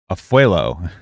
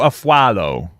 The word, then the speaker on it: Afualo: this is about Drew afuelo am I saying it right I think I said it wrong already I I just looked it out wait drew a follow I'm gonna keep saying afuelo though because it just I